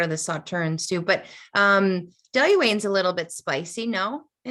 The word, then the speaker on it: Dailuaine: I pronounce it Dailuaine.